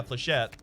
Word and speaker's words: flechette: Is it actually pronounced Flechettes? I wasn't trying to troll people with that one. I was pretty sure it was pronounced Flechettes. Oh, sorry, Flechette. Silent S.